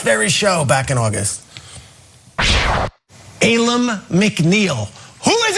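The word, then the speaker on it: Alim McNeill: clip from this very show back in August Alum McNeil who is Ayla McNeil let me tell you about Ayla McNeil I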